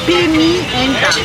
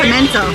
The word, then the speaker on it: pimienta: Pimienta. Because it's P-I-M-I. And I was saying pimento, like pimento, but it's pepper, like salt and pepper, you know?